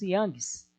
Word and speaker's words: Young: O Youngs, nós pronunciamos Youngs, tá bom?